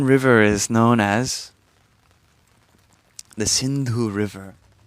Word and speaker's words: Sindhu: One river is known as the Sindhu River. In different dialects, it's pronounced differently, like Indu or Hindu.